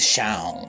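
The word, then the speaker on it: Seam: Meu nome é Shan. Pronuncia-se Shawn.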